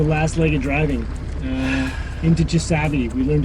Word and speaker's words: Chisasibi: Into Chisabi. We learned how to pronounce it. Yeah, from a couple locals. Chisabi.